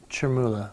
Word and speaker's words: Chermoula: You made the sauce that I can't pronounce earlier in the 6 o'clock hour. That's right. How do you say it again? Chermoula. Chermoula, and it's the green sauce that we just made earlier.